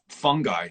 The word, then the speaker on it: Fungi: So I'm on your mailing list for the Moxie, and you were touting a movie called Fantastic Fungi. Am I pronouncing that correctly? Yep, I think you are. Plural.